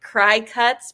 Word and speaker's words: Cricut: So I put the spelling of Cricut below because it is not spelled like the bug. Right. It is like Cry Cuts because they specialize in cutting machines.